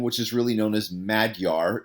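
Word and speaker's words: Magyar: is really known as madyar it's pronoun it's not pronounced mag yar it's mad yar like being mad yar okay so it's pronounced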